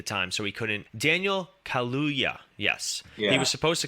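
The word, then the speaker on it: Kaluuya: her husband I forget his name Daniel Kurt curludia I can't I can't pronounce his last name I'm really sorry he was a film he was filming nope at the time so he couldn't Daniel kaluya yes he was supposed to come back as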